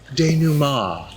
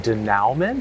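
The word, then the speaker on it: dénouement: falling action and and D numar you mean the Denow it's French you only pronounce a third of the letters sounds like a perfume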